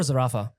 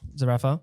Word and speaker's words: Zerafa: Zerafa or Zerafa? Like how they say it in Greece. Zerafa? Zerafa. Malta. Yeah, Malta. We got the coffee chain